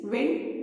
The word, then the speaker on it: wind: बोलते हैं, WIND उसको, लेकिन उसका प्रोनाउंसिएशन होता है वाइंड. Spelling is WIND only but pronunciation is वाइंड. बट यहाँ पे जो ब्लैंक में हम भरेंगे that is WIND which means विंड, इसका मतलब है हवा.